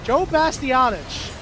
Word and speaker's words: Joe Bastianich: Yeah, Joe Bastianich. That's how you pronounce his last name.